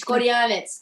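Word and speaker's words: Škorjanec: Janette, you mentioned your wonderful husband, the Slovenian professional dancer, Strictly co-star Aljaž Skorjanic. Am I pronouncing that correctly? Skorjanic is the top one.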